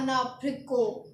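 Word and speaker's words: abricot: नहीं पता मुझे तो एप्री कोट अगर हमें एप्री कोट बोलना है तो हमें बोलना है अना फ्रिको क्या बोलना है अनाको उसके बाद आता है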